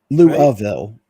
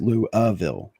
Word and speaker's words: Louisville: It's Louisville, right? It's out thin. Louville is actually how it's pronounced. Louville, dude.